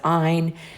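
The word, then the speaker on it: -yne: Triple bonds require an "ine" ending, Y-N-E, pronounced "ine."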